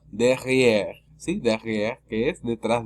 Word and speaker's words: derrière: La E es muda al final porque no tiene acento. La única forma que la E al final se pronuncie es cuando la E tenga acento al final. Si no tiene acento es muda.